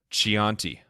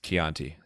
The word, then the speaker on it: Chianti: That Mystique Marketing, I think, is exactly how my fiance Dana feels when I mispronounced Chianti and it's Chianti.